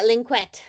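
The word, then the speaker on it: Lynkuet: Yeah, linquette, I call it.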